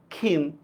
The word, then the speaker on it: ক্ষীণ: ক্ষীয় এটা যদি শব্দের শুরুতে যদি থাকে, ঠিক আছে, ক্ষীয় এটা যদি শব্দের শুরুতে যদি থাকে, তাহলে কি হবে? খর মতো উচ্চারণ হয়। যেমন দেখেন ক্ষয়, ক্ষীণ, ইত্যাদি ইত্যাদি, ঠিক আছে?